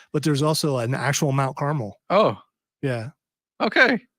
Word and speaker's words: Carmel: there's also an actual Mount Carmel oh yeah okay it's not Mount Caramel though but is is the